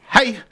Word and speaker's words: hej: so if you say everyone greets you with hi now really spell hej hej really yes what